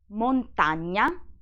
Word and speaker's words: montagna: Montagna, lasagna, compagna. Then we have a GN plus E, which is pronounced gne, gne.